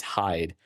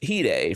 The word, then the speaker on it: hide: Yeah, but no, it's Hee Day from X Japan. So, I thought that was really cool that you added in in parentheses pronounced Hee Day h e e, you know, d a y, like or Yeah, that's